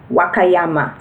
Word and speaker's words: Wakayama: Wa is W-A, so you follow that with the red dot. Then you have Ka, K-A, Ya, Y-A, and Ma. Wakayama. So those letter combinations are how you would pronounce Wakayama, and those are the